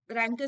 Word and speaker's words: rancor: Okay, this is not rank, it is pronounced as rancor. Okay, रैंकर series जो आया है Unacademy का, रैंकर.